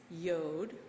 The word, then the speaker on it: yod: would be transliterated as yod rhymes with road which we transliterate as